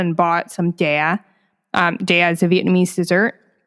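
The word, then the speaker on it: chè: Che. No, it's dea. Che. Am I saying it right? Am I saying? No, it's just dea. You kind of make like a downward tone with like the e.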